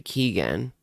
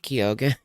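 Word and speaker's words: Keoghan: he's not for everybody it's pronounced Jan Jan Keegan yeah oh Barry Keegan not kogan well here he is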